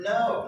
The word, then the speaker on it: know: oh also the verb no right no no no we start with a k but we don't pronounce it all right uh where are we 16.